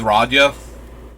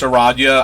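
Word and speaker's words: Radha: able to enlist with radio no i don't know why i pronounce eradia i don't know why i thought she had like an extra eye in there or something i think i might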